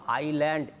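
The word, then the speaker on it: island: দেখো আইল্যান্ড, এস উচ্চারণ করবে না।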